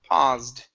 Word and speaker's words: paused: the word is paused give me a voiced s here instead of past it's paused one more time paused